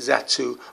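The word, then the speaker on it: Zattu: the children of the zatu and it has a numerical number of 22-40 and it's still pronounced that too when spelled is at a double t u um the children of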